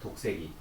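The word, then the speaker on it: ᄃᆞᆨ새끼: 네, 독새끼. 독이 아래아 발음이야.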